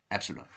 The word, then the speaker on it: epsilon: each mean plus Epsilon Epsilon is a Greek letter pronounced Epsilon okay so mu plus